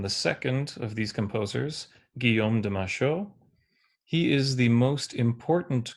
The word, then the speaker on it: Guillaume de Machaut: have been pronounced as as native speakers would pronounce them. So these are French composers. So you would pronounce their names Phipe Devitri and Guom de Masho.